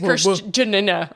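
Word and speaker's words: Kristjana: give me a pronunciation Christiana Chris k r i s t j a n a Christiana Chris yeah sure Christiana we love you so much thank you I think it's CHR Jan yes that's you know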